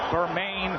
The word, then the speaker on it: Bermane: Stiverne has heard his first name pronounced every which way. Bermane, Bermane, it's Berman.